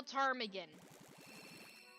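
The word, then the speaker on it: ptarmigan: how you spell it all I know is that ptarm again starts with a P same with um pterodactyl and I like to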